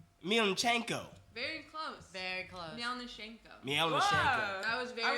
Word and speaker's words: Mielniczenko: Melnishenko. Milchenko. That was very I would close. never gotten that. But you have to say it like Milchenko. Milchenko. Like you're slightly threatening.